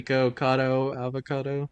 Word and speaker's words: Nikocado Avocado: It's obviously supposed to rhyme with avocado. Griffin, how do you pronounce it? So self-explanatory. Nikocado avocado.